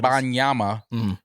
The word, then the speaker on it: Wembanyama: That was an accurate Victor pronunciation. Wembanyama.